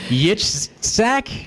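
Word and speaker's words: יצחק: Yitzhak? Yitzchak. Oh, great. That's even harder. Yitzchak, but it's Yitzchak. Isaac in English.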